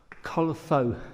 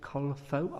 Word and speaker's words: Culpho: The culifo, should I say? Caulifo, I think that's how you pronounce it.